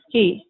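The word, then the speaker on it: היא: which is pronounced who and she which is pronounced he and here we have the verb sa Yin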